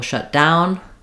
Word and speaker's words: shut down: So the government will shut down, stress on down, and two separate words.